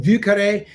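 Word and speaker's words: Vieux Carré: would be far more popular if people could pronounce it but vucare is uh stands for old square so i've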